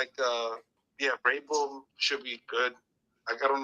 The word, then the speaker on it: Vrabel: Vrabel, what is his name? Vrabel, yeah.